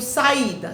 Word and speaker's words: saída: Pronuncio saída, sa-i-da.